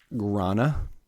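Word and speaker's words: Gränna: mean relatively speaking 1854 in Grana Sweden I think that's how you pronounce it what's it spelled g-r-a what the like the two dots nna oh yeah I don't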